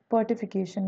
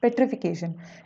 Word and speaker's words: petrification: Petrification, I think I have pronounced it as the पर्टिफिकेशन और something. It's पेट्रिफिकेशन।